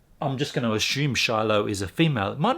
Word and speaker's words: Shiloh: it might be shyla might be pronounced shyla but the o and the h might say ah um thanks very much